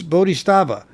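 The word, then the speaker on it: Bodhisattva: song the first song as I always mispronounce is bodh stea or stava or sta or sta it's bodh stava anyway the song had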